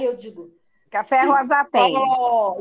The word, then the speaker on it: cipó: cipó, e não cipo.